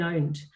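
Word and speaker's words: pwned: called Have I Been Owned? It's owned as in the way that myself as a nerd would spell it, so it's P-W-N-E-D. But the website is Have I Been Owned, spelled P-W-N-E-D.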